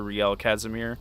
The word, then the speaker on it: Rielle Casimire: As far as with being knighted and adopting my noble name once more, it is Sir Rielle Casimire.